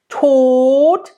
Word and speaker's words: Tod: Tod, nice and closed. And in German, when there's a D at the end, it's usually pronounced like a T.